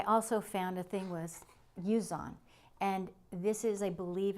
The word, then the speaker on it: Zhiyun: I believe it's called, I think you pronounce it ZHIYUN, and it's called a Smooth Q.